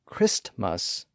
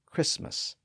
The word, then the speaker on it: Christmas: lost in the mix one scenario where that tended to happen was in words with two syllables where the first syllable ended in St that t sound was often lost in the transition from the first syllable to the second syllable that's how Christmas became Christmas in many dialects post Man became Postman